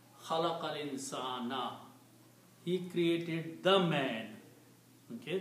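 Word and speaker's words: خَلَقَ الْإِنْسَانَ: And that happens is that this last letter on dhamma changes into a fatah. So you pronounce khalaqal insana.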